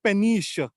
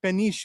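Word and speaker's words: péniche: can live in them so you call them penish p n i c h e penish in French which are the house boats so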